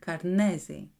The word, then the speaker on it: Karnezi: in an irregular pattern, Karnezi. The word Karnezi has 3 syllables of similar length, but the syllable ne receives a tonal stress that makes it more prominent without significantly changing its duration.